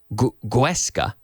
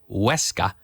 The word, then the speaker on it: Huesca: But you don't say, when you say Huesca, you don't say Guesca. You say Huesca. For some reason, the sound that comes after influences people's ability to pronounce the first part of the sound, and I don't know why. It's a psychological thing. If you can say Huesca, then you say ud, like good.